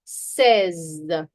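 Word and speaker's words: seize: Says says. Now please remember if you say sees it's going to be six. If you say says says it's going to be 16. Okay.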